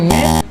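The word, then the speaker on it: May: সেটা হচ্ছে এই ফ্রল এই ফ্রল এই ফ্রল এই ফ্রল এরপরের মাসের প্রনান্সিয়েশন আমরা সাধারণত করে থাকি মে কিন্তু এটার সঠিক প্রনান্সিয়েশন হবে মারকারে মে এটা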